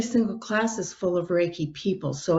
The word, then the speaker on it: Reiki: a couple times in your book titles is riki from if i'm pronouncing that right can you explain what that is yeah it's pronounced as reiki and it's really started oh gosh back in